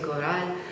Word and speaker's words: Corral: Donc cette année, on a vu aussi à Corral, je prononce bien. Al Corral, c'est Corral. On a vu la pièce de Cervantes, Pedro de Urdemalas.